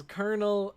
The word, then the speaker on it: colonel: don't understand it man it's spelled like Colonel but people pronounce it as kernel I don't get it